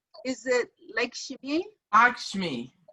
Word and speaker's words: Lakshmi: Lakshmi. Like a lock.